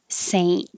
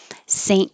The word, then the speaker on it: saint: ha ha halloween saying we don't really pronounce the t unless there's a vowel after it saint so the tongue goes to the n and t position and just holds it there saint nicholas or saint nick